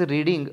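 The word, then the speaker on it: read: असं आपणाला करावं लागेल स्पेलिंग जरी आर इ ए डी असं राहिलं तर आपणाला वी थ्री वापर करत असताना रेड असं म्हणावं लागतं अ मॅगझीन इज बीइंग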